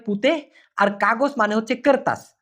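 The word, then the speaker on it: kertas: আছে উচ্চারণ হয়তোবা আপনি ভুল করে বসেন মূলত উচ্চারণটা হবে কারতাস করতাস করতাস মানে হচ্ছে কাগজ আমি আবার বলতেছি কারতাস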